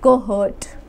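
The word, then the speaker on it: cohort: तो how will you pronounce it, you will pronounce it एट कोहर्ट, एच हर्ट, हर्ट बोलना है आपने, मगर स्पेलिंग क्या है, हर्ट, HO, तो आपने इसको कैसे प्रोनाउंस करना है, कोहर्ट, कोहर्ट।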